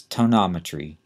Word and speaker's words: tonometry: used to test for glucoma is what that's tonometry t o n o m e t r